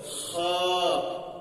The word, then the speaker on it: خ: বড় হা আছে আল আলহামদু হা খ এর উচ্চারণ কন্ঠনালীর উপর অংশে হয়। কন্ঠনালীর উপর অংশের হয়। খ খ এবার বলেন জিমের পেটে এক নুক্তা হাখালি